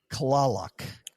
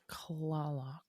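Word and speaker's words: Kalaloch: But the guy at the front desk named Grant uh said to us it's pronounced Klalak. Klalak.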